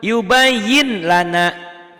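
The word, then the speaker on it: يُبَيِّن لَنَا: Begitupun yubayyin lana. Tuh yubayyin lana. Yubayyin lana. Tuh, yubayyin lana ya. Ditulisnya. Nah, dibacanya N-nya hilang.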